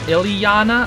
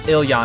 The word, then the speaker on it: Ilyana: every name is not it's not ileana i'm pretty sure it's iliana because it's i-l-y-a-n-a ilyana um so i feel